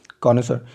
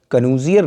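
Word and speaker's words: connoisseur: कॉनसर, कन्यूजियर नहीं पढ़ा जाता है, ध्यान रखना।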